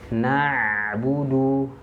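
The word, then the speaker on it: نعبد: Jangan na'budu, jangan terjeda atau bunyi ainnya ke hamzah. Na'budu. Nah, huruf ain itu tidak ada sifat syiddah ataupun suara yang tertahan, tidak ada di situ. Jadi huruf ain tidak ada suara yang tertahan. Tidak seperti hamzah. Kalau hamzah kan fa'tu bisurah. Fa'tu memang dia ditahan. Karena suaranya dia tertahan di situ. Huruf hamzah itu dia sifatnya syiddah. Sedangkan ain tidak memiliki sifat syiddah. Maka jangan sampai tertahan.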